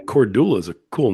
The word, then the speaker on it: Kordula: Yeah, It's you said what was it, Cordella is how people were yeah, pronouncing a it.